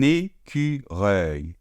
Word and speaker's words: écureuil: On ouvre bien. Œil, comme un œil. Un écureuil.